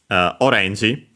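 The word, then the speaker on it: オレンジ: Orange, orange, from English. Although, as you have heard from the accent, I pronounced it correctly, the accent in Japanese is on the re.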